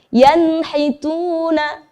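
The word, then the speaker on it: يَنْحِتُونَ: Bertemu dengan huruf ha, contohnya adalah pada kata yanhituna. Saya ulangi, coba perhatikan. Yanhituna. Di sana ada huruf nun sukun, kemudian diikuti dengan huruf ha. Maka kita membacanya harus dengan jelas.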